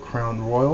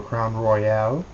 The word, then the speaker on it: Crown Royal: It's called Crown Royal or Crown Royale, uh, depending on how you want to pronounce it.